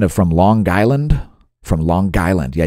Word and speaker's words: Long Island: from Long Island from Long Island yeah you got to pronounce a hard G Long Island toward Nantucket